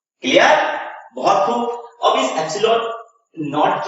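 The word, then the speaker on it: epsilon naught: याद रखिएगा, एप्सिलॉन 0 भी आप कंसीडर कर सकते हो, बोल सकते हो, पढ़ सकते हो, बट इसका सही प्रोनाउंसिएशन क्या निकलेगा? एप्सिलॉन नॉट।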